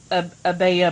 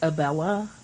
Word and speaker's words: Abella: So, Abella, but like with the Spanish spelling. Abella. So, it looks like Abella, but it's pronounced Abella, like tortilla.